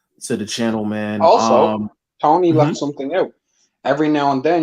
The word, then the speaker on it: Toney: Tony's Reviews. That's spelled TONEY, like James Tony.